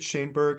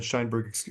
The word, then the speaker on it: Shanberg: you come into possession David shanberg I said shinberg earlier excuse me for mispronouncing his name you you cover his